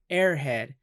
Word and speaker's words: Aer Head: need to know that it is spelled eat our head yeah yeah it sounds like the term airhead but I mean it